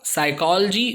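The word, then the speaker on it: psychology: सो आप देख सकते हैं शुरू में P और S दिख रहा है आपको, और P जो है वो नहीं पढ़ सकते, वो साइलेंट होता है हमेशा P के साथ S शुरुआत में।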